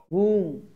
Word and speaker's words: womb: womb. B will be silent and the pronunciation will be womb.